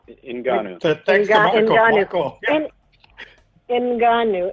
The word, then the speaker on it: Ngannou: Ngannou. Ngannou.